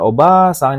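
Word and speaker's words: おばあさん: Kemudian oba-sang ini kan nenek, ada a-nya ya panjang.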